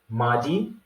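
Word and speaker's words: mardi: be able to identify it okay so it's pronounced as maddy all right like i said we're going to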